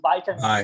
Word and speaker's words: vitamins: I've heard some people saying vitamins as well, but in USA, you all always say, you always pronounce it with by sound, vitamins or vital.